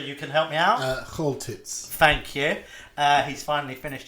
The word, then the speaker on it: Choltitz: of upset Nazi sympathisers here by getting the pronunciation wrong, but Chortitz, I believe, Roger, you can help me out. Choltitz.